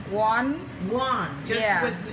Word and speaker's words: Oanh: number one yes so how do I pronounce that say it how on one one so make believe there's a w yeah because somebody don't